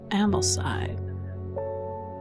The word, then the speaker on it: Ambleside: Where is Ambblestein? Am I even pronouncing it right? Yeah, Amblesside.